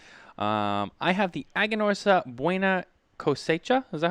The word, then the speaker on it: Buena Cosecha: to terence about um i have the agonorsa buena cosecha is that how you say it terence buena coche yeah so this is this is a cigar